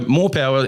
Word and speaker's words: Morpowa: So Morpowa is spelled MORPOWA, and everyone's like, you're retarded, like you can't even spell. But MOR is more, and then the PO is Podlewski, and the WA is the business partner of Alan Ward.